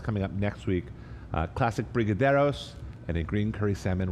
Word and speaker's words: Brigadeiros: Coming up, our next class is, I can't even pronounce that. Classic Brigadeiros? Yeah, Did I that's just right. nail that? That's right. Brigadeiros.